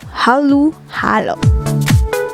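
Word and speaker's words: halu-halo: the filipino language which prescribes halu halo which is spelled as h-a-l-u instead of o and then h-a-l-o hallu hallo the word is an adjective meaning mixed in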